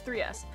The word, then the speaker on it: 3S: Is it 3S or S3? It's 3S.